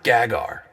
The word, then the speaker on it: Gagar: Actually, it's pronounced Gagar. I don't know why that's so hard for him. Well, tell me, Gagar, why are you here?